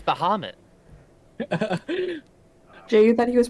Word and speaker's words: Bahamut: Oh, it's Bahamut. Jay, you thought he was pronouncing As it you correctly as this you whole touch time?